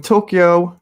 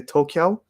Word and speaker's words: Tokyo: coming to you from tokyo not toka tokyo japan some people think i say toka japan because i guess i say it real fast i say tokyo but it's actually k y o and some people think